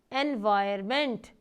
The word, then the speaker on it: environment: इसमें ओ या N silent होता है. आपने देखा मैं बोल रही हूँ तो एन की आवाज़ नहीं आ रही, तो हम ऐसे बोलते हैं एनवायरमेंट.